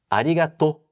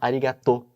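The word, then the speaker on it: ありがとう: utilizar essa expressão mas arigatô as pessoas tendem a falar arigato se fosse em japonês em japonês você tem que prolongar a última sílaba que ficaria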